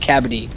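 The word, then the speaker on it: kabaddi: there's an Indian sport it's called cavity cavity yeah that that's exactly how it's pronounced yep me and Har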